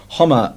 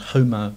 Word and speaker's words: homo: the BBC decided that homosexual should be pronounced homer as in homage, and not homer as in homer.